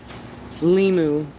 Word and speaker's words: limu: Limu.